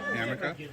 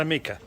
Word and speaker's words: Amica: Amica. Amica. Not Amika. Not the insurance.